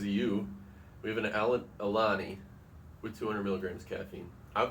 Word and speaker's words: Alani: I've always said Alanui. I know I've always said Alanui too, but I know just it's not looked right. at it today and it's Alani.